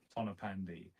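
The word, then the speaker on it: Tonypandy: town in South Wales called tonopandi which is spelled Tony pandu which is confusing for English people and what happened there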